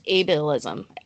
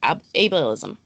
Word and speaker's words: ableism: And just in case there is somebody who doesn't know the definition or what you define as ableism. I'm not even saying it right. Ableism.